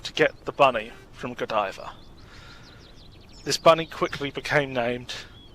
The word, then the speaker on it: Godiva: and dear to her I called it Godiva. It is actually pronounced Godiva.